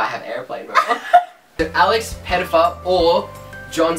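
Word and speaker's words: Pettyfer: Alex Pettifer or John C.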